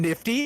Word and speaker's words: NFT: I don't know if you know, but it's pronounced fucking nifty, and if you could just fucking get on board with that.